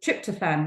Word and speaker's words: tryptophan: a an amino acid called um try so trapped a fan I'm not great at pronouncing these words but tryptophan that's how we say it I actually thought